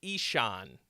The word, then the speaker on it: Isan: name and he says he said I say isan and I was like cool I've been saying it wrong but I will say